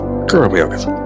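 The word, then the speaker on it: go raibh maith agat: Is it A, let all, or is it B, Gurm Yogat? Tick, tock, tick, tock. If you said answer A, you need to check your memory. Memory. The correct answer is B, Gurm Yogat.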